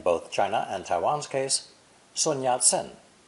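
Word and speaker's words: Sun Yat-sen: china and taiwan's case sunyat sen whose english name is transliterated from the cantonese not mandarin in mandarin his name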